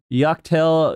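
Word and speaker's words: Yak T'el: I'm not going to pronounce this right. Yaktel Yorkapaka.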